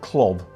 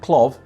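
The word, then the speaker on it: Klow: are driven not to, I always pronounce that Clob, but I think some people pronounce it Clow, but I think they're the same people who pronounce Hergé. So I'm going to stick with Clov, if you don't mind.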